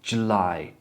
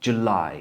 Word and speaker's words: July: nie junos czerwiec na lipiec znowu mamy taką literkę która troszkę myli nie not d ju czyli mamy do czynienia znowu z szła dź dźla July, July. Wyobraź sobie, że uczysz dziecka dźwięki polskie. O, i to jest dz. D dz jak dziewczyna. D. No to zacznij od tego dac d i dodaj li d lie.